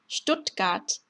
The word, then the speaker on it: Stuttgart: 마찬가지로 발음 기호 참고하시면 되고요. 예시를 보면 der Sport, der Sport, der Student, der Student, Stuttgart, Stuttgart 이렇게 되는데요.